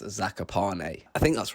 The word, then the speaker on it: Zakopane: Now, when we first got there, we were all pronouncing it Zakopane, but we quickly learned from a couple locals that it's pronounced Zakopane.